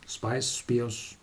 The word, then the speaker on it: Spìos: and this be us Spiros is Gaelic for spice spice beers well quite near the pronunciation and this remembers to